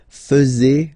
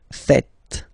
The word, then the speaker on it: faites: And it's quite funny because many French people tend to make the mistake and tend to say vous faisiez, okay? But then no. It's vous faites. Vous faites. Okay? So remember, final S here is not pronounced, and then this is not pronounced either.